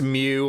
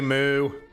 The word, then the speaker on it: Mu: know it's secondly pronounced mew like the pokemon but it's colony moo this console is going